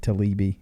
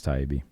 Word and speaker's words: Taibbi: I think I said Talibi. Yeah, I think it's Taibbi.